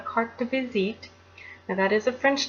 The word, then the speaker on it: carte de visite: a CDV photograph is it's called a cart to visit now that is a